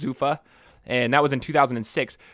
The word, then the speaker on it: Zuffa: UFC's you know holding company I think it's pronounced Zuffa and that was in 2006 but the world